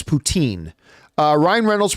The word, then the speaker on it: poutine: the president of Russia Putin is the President of Russia it is not the delicious although extremely unhealthy uh Canadian delicacy uh poutine and but listen it's whatever it's french fries covered with cheese and gravy who cares if Ryan goling wants to call it Putin if that's how he